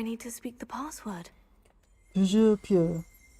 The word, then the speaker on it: Toujours pure: Toujours pure. Toujours pure.